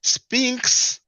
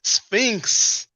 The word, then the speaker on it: Sphinx: him up and Tony haven't you heard him pronouncing Spinks twice it is Sphinx as in Leon Spinks oh man the boxer